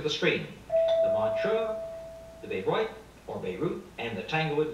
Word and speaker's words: Bayreuth: is correct, and the Beirut, or Bayreuth, as it's pronounced, is in Germany, West Germany Festival.